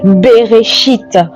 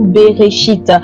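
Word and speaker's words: בראשית: commencement mais en hébreu se dit berchite. Voyez-vous beréchit.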